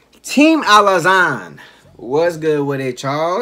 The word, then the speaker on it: Alazon: Team Alazan, what's good with it, y'all? It's your man, Alazan. Like Amazon, but with an L.